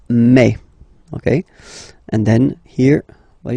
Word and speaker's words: mai: So really open e, okay, and then you pronounce it me. Okay, so don't pronounce I, don't try to pronounce it. No, it's me. So it's not my, it's me.